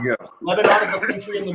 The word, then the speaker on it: Lebanon: But I do know it's Lebanon, Missouri, not Lebanon. There you go. Lebanon is a country in the Middle East.